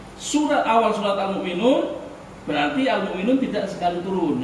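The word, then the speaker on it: المؤمنون: Meskipun namanya almukminun ya terus ditulis almukminin Tapi bacanya almukminun Ya surat awal surat almukminun berarti almukminun tidak sekali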